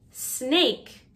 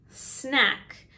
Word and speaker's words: snake: hard g giraffe giraffe snake not snack you eat snacks short a sound but the animal is snake long a sound jaguar jaguar sounds like